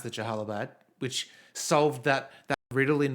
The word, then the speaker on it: Jalalabad: And then earlier this episode, the guy pronounced it Jalalabad, which solved that riddle in my mind of how to actually say it after hearing it all these years.